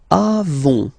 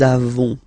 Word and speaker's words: avons: Then nous avons, final s not pronounced, avons, okay, and then